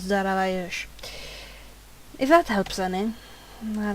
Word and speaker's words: Darius: I believe Darius' proper pronunciation of the name was Daravayesh.